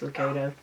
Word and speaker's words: Lucado: I think it's Max Lucado, is how I've always heard it pronounced. And I did meet him once in person, and I think that's how they pronounced it.